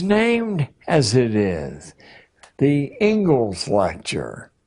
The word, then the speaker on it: Inglis: The Ingalls lecture. Looks like Inglis, but it's pronounced Ingalls.